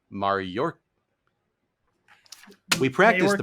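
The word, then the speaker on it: Mayorkas: 100 on this one it's like the word Mayor and then k-a-s so and then you added an r in the notes and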